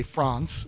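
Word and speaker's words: Frantz: fact his name was France Omar Fon and the France with the TZ was to pronounce his name the way the alaan say France was France at Omar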